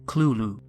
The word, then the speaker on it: Cthulhu: to pronounce it however lovecraft wrote that the closest pronunciation is clulu unlike most horrific creatures